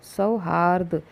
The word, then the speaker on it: सौहार्द: आपको बताया ना मैंने सौहार्द हार द तो द के ऊपर र आएगा क्योंकि द से पहले र का उच्चारण हो रहा है सौहार्द का मतलब